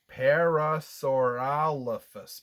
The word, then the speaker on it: parasaurolophus: a big word i'm gonna look there's a pronunciation key on this chart here and that word is parasaurolophus parasaurolophus parasaurolophus that's a mouthful so there is